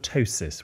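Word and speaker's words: ptosis: and I've got something called a tosis with a silent PE and uh is that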